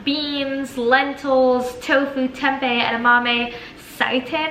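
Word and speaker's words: seitan: Legumes, you can lean on beans, lentils, tofu, tempeh, edamame, sitin, I think that's the way you pronounce it, eggs if you eat them, right?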